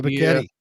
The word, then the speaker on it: Ebiketie: Arnold Ebiketie. Yeah, Ebiketie.